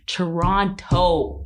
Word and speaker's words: Toronto: I keep trying to pronounce the O because apparently Toronto people don't do that. Toronto.